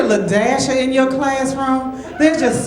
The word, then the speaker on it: La-a: pronounce this name and the name was spelled La hyphen a I was like La a la a she said no it's l dashia when you get a lashia in your classroom there's